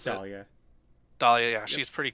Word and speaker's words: Dahlia: I'm not actually sure how you pronounce it. It is Dahlia.